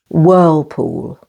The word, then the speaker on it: whirlpool: whe and wh poool with the main stress on the first syllable Whirlpool K is always silent